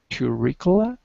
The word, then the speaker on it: curricula: Yeah, how do you pronounce curricula?